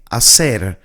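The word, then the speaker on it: hacer: So the H is silent. So we don't pronounce it. We basically read it from here from the A. Asser as means to do.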